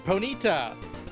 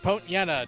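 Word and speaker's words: Ponyta: The first one being Ponita or Pontana depending on how you want to pronounce it.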